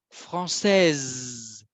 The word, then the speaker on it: français: Mais je répète, le E en français, c'est pour le féminin et il nous indique de prononcer la consonne.